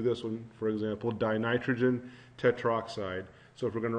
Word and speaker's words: tetroxide: to make it pronounceable so dinitrogen tetroxide instead of dinitrogen Tetra oxide is just awkward to say that and the formula for